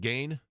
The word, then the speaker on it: Geen: Is it Gain?